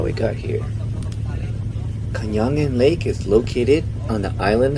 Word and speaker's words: Kayangan Lake: How you pronounce the name of the lake? Kayangan Lake. Kayangan Lake.